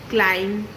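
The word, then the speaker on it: climb: तो सबसे पहले बात करते हैं ऐसे वर्ड्स की जिनमें एम के बाद आता है बी और ऐसे में बी हो जाता है साइलेंट जैसे क्लाइम, थंब, बॉम्ब एक्सट्रा।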